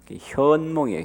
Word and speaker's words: 현몽: 나타난 가이다 현몽 근데 우리 할머니는 옛날에 한문을 잘 모르셔서 선이라고 나한테 가르쳐주어 선했다 근데 알고 보니까 발음은 잘못된 거더라고 내은 거고 현몽이에요 현몽 꿈에 나타난 카피에 그런데 언제 가피를